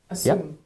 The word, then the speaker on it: assume: ume you go first assume guys can you hear the yes sound richard assume i can hear that